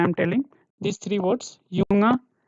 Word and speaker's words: Junge: Whatever I am telling, these three words, Junge. See how it is read, Junge.